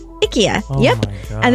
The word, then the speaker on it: IKEA: So it's supposed to be IKEA. IKEA.